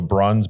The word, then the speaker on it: Bruns: So Bruns, B-R-U-N-S, rhymes with buns, dash, O-L-S-O-N, not E-N-O-N, .com.